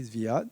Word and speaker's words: Zviad: But I think as Zviad was, did I pronounce your name correctly, Zviad?